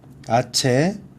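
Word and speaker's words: hache: 아체, 그죠? 왜? 소리가 안 나서 묵음이에요.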